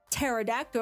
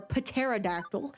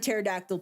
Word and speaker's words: pterodactyl: So there's Brontosaurus, pterodactyl, or pterodactyl, if you want to be annoying and pronounce the first P, or a T-Rex.